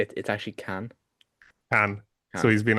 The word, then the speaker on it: Cannes: the past 2 weeks at Cannes, um, which is the right way to pronounce it.